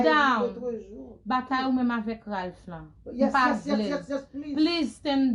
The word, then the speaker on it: Ralph: His name is Ralph. R-A-L-P-H. Thank you. Fix that for me next time. R-A-L-P-H. Please say his name. Say after me. Repeat. Ralph. Ralph. Ralph. Ralph. Ralph. Ralph. Ralph. Ralph. C'est pas Ralph. What do you do with the L?